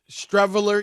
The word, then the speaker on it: Streveler: And you remember the dude, Stevel. How you say his name? Rob G. Streveler?